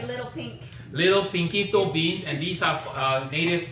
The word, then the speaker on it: Pinquito: Pinquito? Pinquito. Pinquito beans. Pinquito beans. Is that Pinquito? P-I-N? Is that Spanish sounding? P-I-N-Q-U-I-T-O? Pinquito. Pinquito. It will be like little pink. Little Pinquito beans.